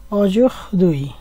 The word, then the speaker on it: aujourd'hui: তো এই শব্দগুলি ফরাসিতে কিভাবে বলতে হয়, এখানে আছে আজ, আজকে ফরাসিতে বলে অজুহদুই, এটগুলো ও জুহদুই, উচ্চারণটা বাংলায় লিখে দিয়েছি অজুহদুই।